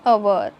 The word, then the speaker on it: hour: In the following words, H is a consonant but H is silent. So pronunciation start from vowel sound. स्वराने उच्चार होतो. For example, an hour, an honest man.